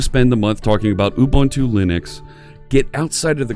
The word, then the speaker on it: Ubuntu: So let's start using a little bit of Ubuntu Linux, and it's important you say it that way, Ubuntu, because that's the way it's pronounced.